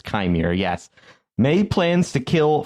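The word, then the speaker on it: Qimir: does anybody know kimere I was going to say kemir but it's kimere yes may plans to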